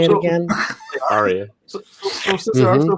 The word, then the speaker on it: Ariya: Aria.